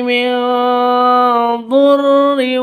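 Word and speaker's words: مِنْ ضُرٍّ: Fakasyafna ma bihi minrin minrin, seorang biarawati sakinah bertemu dengan seorang ayah. Cara membacanya adalah secara samar-samar dengan gumaman, bersiap untuk huruf 'dod'. Mengapa ? Karena ini adalah bacaan ikhfa hakiki .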